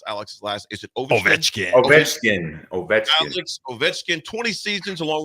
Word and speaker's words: Ovechkin: How you pronounce Alex's last? Is it Ovechkin? Ovechkin.